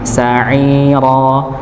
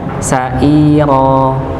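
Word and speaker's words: سعيرا: Ini bukan huruf hamzah nggih tapi huruf ain. Sairo sa'iro bukan sa'ro sair tapi huruf huruf ain ya.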